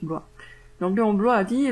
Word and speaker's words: Bloy: Ça, je cite Léon Bloy, puisque finalement ça se prononce Blois. Je crois que c'était Bloy, mais ça se prononce Blois.